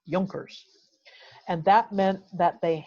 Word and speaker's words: Junkers: who were land holders in prussia were called yolkers it's spelled junkers but it's pronounced junkers and that meant that they held land the